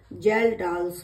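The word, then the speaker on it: Kjeldahl's: अब आती है second method, जेल्डाल्स method. Second method कौन सी है, जेल्डाल्स मेथड, जिसकी स्पेलिंग है KJELDAHLS, जेल्डाल्स मेथड।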